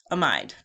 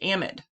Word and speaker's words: amide: that I would think a mind is what I would think they're supposedly correctly pronounced amid and so if it were up to me hamid would not have an e at the end but whatever an amide